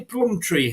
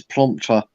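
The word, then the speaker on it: Plumptre: they had now I thought it was actually Plum Tree here that used to play for Leicester but apparently that's not her name is it not uh it's planter I thought the same as me but it's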